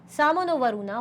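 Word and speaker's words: शं नो वरुणः: The emblem of the Indian Navy contains the motto Sam no Varuna, pronounced Samo no Varuna, which means be auspicious to us, O Varuna.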